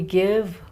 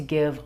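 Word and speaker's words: Gyve: As we give, we shall receive.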